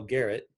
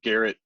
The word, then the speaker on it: Gerrett: looks like a spell Garrett yes it starts with a G but pronounced with a J yeah well I don't